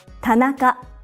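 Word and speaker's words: 田中: a common Japanese surname Tanaka pat now cut it's made up of three syllables Pat na cut each syllable consists of one consonant and one vowel another common surname in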